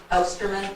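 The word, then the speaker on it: Ostermann: Um since I have this chance to say her name, I would like our newly hired teacher She is Osterman.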